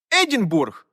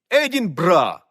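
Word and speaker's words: Edinburgh: до речі столиця Шотландії Едінбург А ось і ні едін брат і неодні ми весь світ робить цю помилку бо кінець слова це Бург яке означає місто але отак вона сталася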